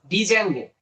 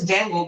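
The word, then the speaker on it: Django: ডিজ্যাঙ্গো, এটা কি উচ্চারণ হচ্ছে জ্যাঙ্গো, কিন্তু এটার আগে ডি দেওয়া আছে।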